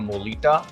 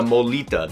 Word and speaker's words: mulitas: Is it a molita? Is that how you pronounce it? Yeah, murita.